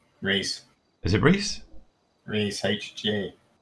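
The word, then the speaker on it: Rhys: The Welsh way of spelling Reese, that start bit. Sorrow. What a sorrow one. You want an invite? Alright, dude. Yeah, I'm well, thanks, mate. There you go. Reese HG.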